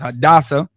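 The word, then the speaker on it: Hadassah: hadasa in the Hebrew you understand Esther in the Bible but her Hebrew name is pronounced hadasa and she did something real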